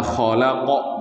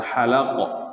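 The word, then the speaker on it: خَلَقَ: Makanya nanti membacanya khalaqa bukan halaqa, ya.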